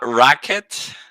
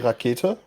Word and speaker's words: Rakete: Is it Racket? It's the German version of rocket actually. So it's like we would say Rakete.